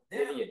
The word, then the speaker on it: Iliad: Pronounce what? The Iliad. Iliad, yes, Iliad.